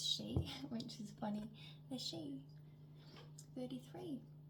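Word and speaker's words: Sidhe: So, um it's spelled s i d h e, but it's pronounced she, which is funny.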